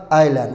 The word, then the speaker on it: island: island ee noqonaysa island ma aha maxay noqonaysa island waaye as tan iyadana waxa ka hormaray I